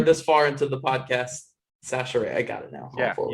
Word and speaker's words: Chachere: Chachere. That's how you say it. Chachere. Hey, so I got it. So it's Sash with a S.